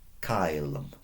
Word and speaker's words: caelum: The C in Latin is always a hard K. If you want to make a S sound, so in English sometimes that C can be soft, like a ceiling. In Latin we'd have to just use the S, like this one.